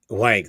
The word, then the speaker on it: Huang: I heard him say 2 years ago that Huang. Wang, thank you.